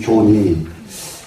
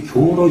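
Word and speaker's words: 徼: 그 다음에는 상유로, 여기 관기 교니, 여기를 옛날에는 이것을 관기 교로 읽었어요. 근데 이제 감산 스님은, 지금 이거 잠깐 이렇게 보니까 이 자리를 교로 읽지 않고 요로 읽었더라고요.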